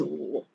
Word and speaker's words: 五: Then remember, once you remember crying sound, the "oo" means crying. So it's same like number 5.